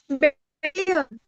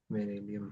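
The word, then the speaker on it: Beryllium: बेरिलियम। हाँ, बे रे ली, बेरेलियम नहीं, स्पेलिंग देखना पड़ेगा। बेरिलियम। तो जहाँ पे ई लिखे वहाँ पे वाई होगा। नहीं, बेरिलियम होता है।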